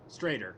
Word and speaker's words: Strader: yeah, Strader. I keep forgetting, but it rhymes with traitor.